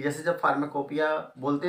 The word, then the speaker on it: Pharmacopoeia: इसको बोलते हैं हम फार्माकोपिया, और इसका जो स्पेलिंग होती है फार्माकोपोइया लिखा जाता है।